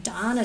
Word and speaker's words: Donna: It took us 2 days to move from the apartment to the bigger house on Donna Street. The post office pronounces it Dana, but what do they know?